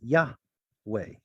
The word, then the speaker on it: Yahweh: That's a possible explanation about where we get this scholastic consensus that it was Yahweh.